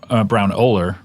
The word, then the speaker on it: Braunohler: with Browner and uh Brown oler thank you do I have have I been saying it right brown brown no you've been saying it wrong I've been saying it wrong brown oler but wait what have